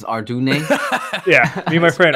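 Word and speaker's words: Ardougne: Mine was Ardoon. I always pronounced Arjigon. It's Ardune. Yeah, me and my friend Arjigon. It's Ardoin, isn't it? Ardoin. Well, that's what I said. It's Ardugne, okay?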